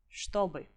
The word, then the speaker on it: чтобы: The other thing to emphasize is that when ch and t sounds are together, they are merged, and you pronounce them as sh, t. So the word is чтобы.